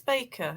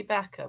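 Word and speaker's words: Bakker: Is it Backer or Baker? I think it been mispronounced. I think I'm told it's Baker. It clearly should be Backer, but I'm told it's Baker.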